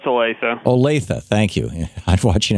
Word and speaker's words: Olathe: Drew in Olathe, Kansas. I'm not pronouncing that right, am I, Drew? No, it's Olathe.